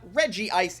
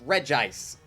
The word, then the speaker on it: Regis: the movie pronounced it it's not reggie ice it's regis i will fight people